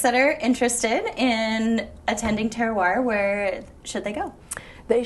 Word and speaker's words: terroir: hyphen Festival okay and terroir is spelled t-e-r-r uh Ohio yes and it's not not to be confused with Terror um it means a